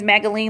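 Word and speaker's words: Magaline: again my name is magdalene like magazine instead of the z replace it with an L you have the pronunciation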